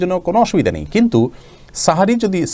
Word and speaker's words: সাহরী: কিন্তু সাহারি যদি সেহরি যদি আমি বলতে পারি তাহলে সাহারি বলতে অসুবিধা কোথায়? সেহরি ভুল। সেহের মানে জাদু সেখান থেকে সেহরি। এটা ভুল প্রচলন হয়ে গেছে।